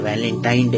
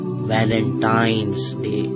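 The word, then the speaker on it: Valentine's Day: आम कहा जाता है यह वैलेंटाइन डे है लेकिन हकीकत में जो इसका प्रोनाउंस एशन है वह है वैलेंटाइंस डे य वैलेंटाइन वाला दिन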